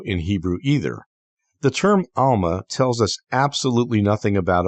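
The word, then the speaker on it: עלמה: only refers to a young woman, which is pronounced alma in Hebrew?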